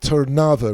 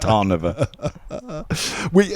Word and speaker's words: Trnava: curves around Bratislava and it's called the Tava region I'm glad you said that cuz I would have butchered it and said tar we the truth is before